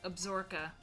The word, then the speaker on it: Absaroka: Yes, Longmire takes place in the fictional county of Absaroka Right. And in Wyoming. in Wyoming, and we actually pronounce it Absorka here.